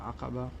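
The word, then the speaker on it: Aqaba: are flying is called akaba or akaba if you want to pronounce it correctly let's get inside and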